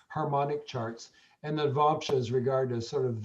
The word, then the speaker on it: Navamsa: So it's spelled N-A-V. Navamsa, but it's Cool.